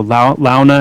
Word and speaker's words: Launa: So Launa and Hauta, that's how I pronounce it.